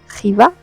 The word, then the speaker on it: Xiva: Here you can see a few pictures of Xiva or as the locals say, Chiva.